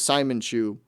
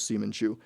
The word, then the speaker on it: Seaman Chew: Yeah, Chris pronounced it as Simon Chew, but the correct pronunciation was Seaman Chew.